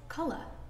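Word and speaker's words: caora: to say the word sheep in irish it's kala can you say that with me color means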